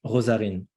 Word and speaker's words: Rosarine: and it became like we can pronounce it in a French way as well. Rosarine. Yeah. En français. For the French speakers. So very different from Thai way, ROSARINE, And I think it's a very beautiful name, Mike.